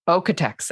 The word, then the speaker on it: Oeko-Tex: How do we pronounce it? Okay, so Oeko-Tex. Oeko-Tex, okay. Oeko-Tex certifications and product labels. That's how it's pronounced.